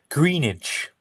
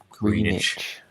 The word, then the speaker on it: Greenwich: see how it's spelled greenish is okay there's not like great it's not like grenade it's not going to just greenage okay green age green age